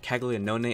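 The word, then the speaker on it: Caglianone: how you pronounce it I looked it up for Somebody pronouncing it kagon is how you pronounce it he's a first baseman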